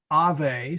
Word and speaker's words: Ave: Instead of Ave spelled A-U-E, it is pronounced with a V.